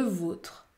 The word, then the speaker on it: vôtre: O ouvert sans accent le deuxième mot contient la voyelle o avec un accent circonflexe et dans ce cas vous allez prononcer le son O ferm écoutez notre le nôtre notre le nôre côte la côte côte la côte votre le vôtre votre le vôtre lorsqu'un